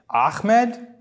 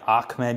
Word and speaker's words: Ahmed: entire life it's understandable they just can't pronounce it I guess turn it into a k I don't know why they turn into okay like I've literally heard Ahmed like where is coming from it's an H but when I did